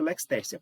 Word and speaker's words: lex tertia: Lex tertia, que na verdade você pronuncia lex tercia.